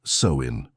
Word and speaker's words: Samhain: the Celtic people celebrated a festival called Samhain, pronounced Samhain.